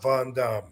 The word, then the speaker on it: Van Dam: wrong all this time actually the real answer answer to that yes seriously the name that I was given was Rob Von Dum what y believe it